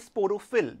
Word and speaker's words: sporophyll: If you observe the seeds, now how do you pronounce the word sporophyll?